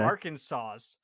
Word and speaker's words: Arkansas: Am I in Arkansas yet?